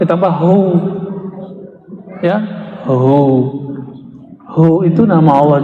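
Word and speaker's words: هو: Hu, bacanya hu, jangan huwa, kecuali disambung.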